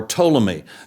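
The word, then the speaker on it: Ptolemy: the other is to uh uh or or toomy that uh is spelled PT o l m y uh simply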